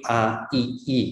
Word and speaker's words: AII: Kalau kita tulis Kedai Reka ini ya, ini bukan bacanya all, bukan semua, tapi AII gitu ya.